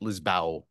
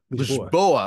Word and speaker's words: Lisboa: I'm talking to Tiago Faria, who is joining me from Lisbon, Portugal, or is it Lisbao? Lisboa.